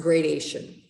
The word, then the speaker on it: gradation: so this is pronounced gradation looks like graduation it's in the longer haircuts except there's no u right so now it